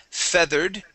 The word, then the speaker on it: feathered: naturally good okay and this is feathered with a short e instead of feathered Fe